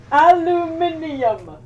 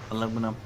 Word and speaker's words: aluminium: when it's parmesan parmesan aluminium aluminum you're missing an entire syllable we spell the word the same it's aluminium what's aluminum aluminum you hello